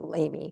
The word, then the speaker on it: Lamy: a railroad spur to, we pronounce it Lamy for that because that's the way we would pronounce it.